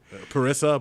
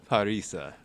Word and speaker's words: Parisa: Parissa, but Scott pronounced it Parisa. because that's the way you're supposed to pronounce her name.